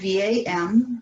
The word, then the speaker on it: VAM: And our bija mantra here is VAM. It's spelled V-A-M, but it's pronounced VAM. And again, it's a long V, short A, long M.